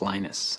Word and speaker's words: Linus: speak Finnish it's Lino's when I speak English its Linus and I really don't care how people Prowse my name but Linux is always